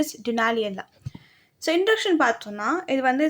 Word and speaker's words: Dunaliella: Last video நான் நிறைய வாட்டி சொல்லியிருப்பேன் Dunella சொல்லிட்டு the correct pronunciation is Dunaliella.